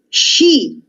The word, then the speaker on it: she: She. La SH, questa combinazione, è un suono sh, quindi she, che vuol dire lei.